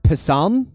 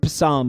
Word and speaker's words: psalm: not know palm 125 i don't even know how to say that word passam he doesn't know psalm 125 get his s possam i'm going to pronounce it psalm okay guys 125 authors